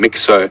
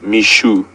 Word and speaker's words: Mixo: we were calling him mixo apparently our pronunciation is incorrect even though it is spelled mixo it is pronounced Mishu I can have a